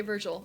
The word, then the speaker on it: Virgil: God what it oh a wrong vergal okay I'm thinking of like the poet Vergo apparently and not I was think comedy Virgo but that's I and not Virgil oh is that how it's pronounced oh okay Virgil okay yeah no I've